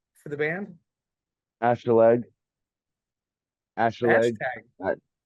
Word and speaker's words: Acheleg: Acheleg.